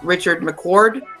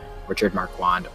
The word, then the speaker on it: Richard Marquand: Is it A, George Lucas, B, Lawrence Kasdan, C, Richard McCord, or D, Ivan Kirchner? To mispronounced fix almost all of Hunters, it's George Lucas, Lawrence Kasdan, Richard Marquand, or D, Irvin Kirchner.